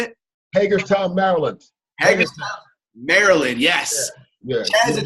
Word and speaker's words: Hagerstown: Hagerstown, Maryland, yes.